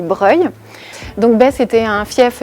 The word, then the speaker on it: Broglie: Donc l'hôpital de Broglie. Tac, sous la sculpture. Alors faut trouver une sculpture déjà. Donc ici, nous sommes devant l'hôpital de Breuil. Alors ça s'écrit Broglie, mais ça se dit Breuil.